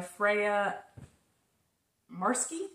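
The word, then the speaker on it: Freya Marske: and that is by Freya marsky I believe is how you say her name um so you could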